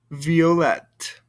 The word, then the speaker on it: violet: here blond blanche vla violet i don't hear the t sound over here but i do over here all right so let's